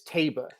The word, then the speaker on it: Taba: No, he said he or she who texted me said they hated the hat, but they did confirm that it's Taba. Frank Miramati got the pronunciation directly from the owner.